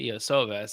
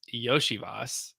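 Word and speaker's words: Iosivas: receiver wrong forever now I thought it was Andre ioves it's yosias I learned that this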